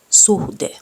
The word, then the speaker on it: suhde: Doesn't matter whether it's in the beginning or in the middle of the word, you have to pronounce the letter H. Kohta. Suhde.